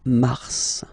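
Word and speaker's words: mars: okay then ma okay so in a way it's an exception because normally final s is not pronounced in French okay we've got some exceptions and this one is one of them so Mar pronounce the final s mar mar okay then ail ail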